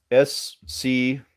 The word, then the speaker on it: Schuyler: S-C-H-U-Y-L-E-R. She's got him. She's got him. All right. And it's pronounced Schuyler, but that's how it's spelled. It's spelled kind of weird.